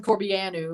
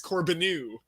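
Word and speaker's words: Corbeanu: warrants but i think i fell on corbiano like it's uh it's romanian i believe but i was asking i was talking to my friend about uh about the pronunciation of it and he was saying that there's nothing that can make the uh the biannual sound that he knows of so he says it's corbinu so corbin okay my mind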